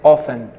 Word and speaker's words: often: do que no caso often a palavra é of não tem o t a gente praticamente quase não utiliza o t entendeu então vai ser often sometimes que significa às